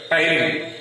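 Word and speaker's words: ptyalin: as salivary amylase or tyline. So the saliva which can release one special kind of enzyme is called as salivary amylase or tyline. P is silent here, tyline.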